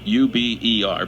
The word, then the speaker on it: Uber: Uber, spelled like Uber, U-B-E-R, pronounced Uber.